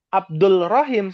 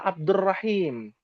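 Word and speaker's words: عبد الرحيم: Abdul Rahim salah. Abdur Rahim.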